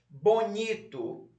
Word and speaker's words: bonito: Bonito. um tracinho embaixo da sílaba ni.